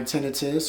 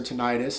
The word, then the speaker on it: tinnitus: I find ways to deal with it, and I still deal with dizziness and my tinnitus or tinnitus, however you like to pronounce it.